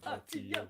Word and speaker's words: Artio: Artio. See, that's why it's 3 syllables.